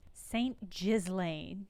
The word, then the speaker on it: Saint-Ghislain: St. Ghislain is how they're pronouncing that.